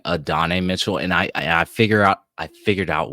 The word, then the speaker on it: Adonai: I keep saying Adonai Mitchell, and I figured out why. We have a friend named Adonis. So you're just throwing that, yeah. Yeah, so I should be saying Adonai, but yeah.